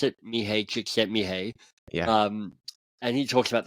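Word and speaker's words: Mihaly Csikszentmihalyi: This is how I Yeah, mispronounce it. Mihai Csikszentmihalyi.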